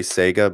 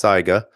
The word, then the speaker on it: Saiga: converted I know a lot of you say Saiga but it's pronounced Saiga so the Saiga unconverted is great but if